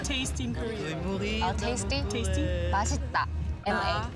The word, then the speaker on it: 맛있다: 맛있다. M-A. 맛있다.